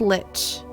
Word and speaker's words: lich: again for rating everyone says lick but it's Lich see that's how I would think to pronounce it I hear other people say lick and I feel like that's wrong so I think we're on the same page like the D and D monster I assume yeah that's what I